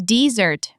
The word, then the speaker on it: dessert: And then there's dessert, which is the sweet course after dinner, spelled with 2 S's. So dessert, the food, and dessert, the action, share the stress on the second syllable.